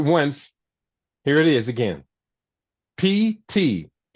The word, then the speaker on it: pterostilbene: It's pterostilbene. Taro. You got it? I wanted you to spell the last part of it. Okay. All right. I spelled it once. Here it is again. Pterostilbene. Pterostilbene.